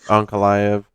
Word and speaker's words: Ankalaev: I mean, Jan versus Ankalaev, I believe, is how they say his name. Ankalaev. Sounds like they're saying Uncle Iron.